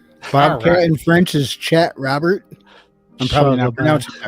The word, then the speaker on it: Robert: you got it because you don't pronounce the T because you rarely pronounce